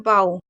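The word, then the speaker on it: bow: देखिए एक और चीज बता दूं ओ डब्ल्यू का उच्चारण कारण धनुष का अर्थ है बो लेकिन बी ओ डब्ल्यू जैसे हैं बाऊ इसका मतलब होता है झुकना तो इसके दो मतलब होते हैं।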